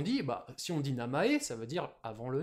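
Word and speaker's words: 名前: Ce mot, on aimerait bien le prononcer maezen en lecture sino-japonaise. Mais non, on va le prononcer namae. Ah merde, tout namae. En lecture purement japonaise.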